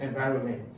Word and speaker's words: environment: This thing now that you just called environment is pronounced as environment. The correct donation to pronounce it, and the stress is on va, environment. See, so the stress is always on the second syllable, environment.